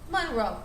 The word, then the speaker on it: Monroe: Monroe.